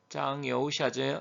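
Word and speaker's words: 张又侠: 그런데 아래에 지금 설리번하고 악수하고 있는 장이오샤, 이제 중국 발음은 장여우샤죠.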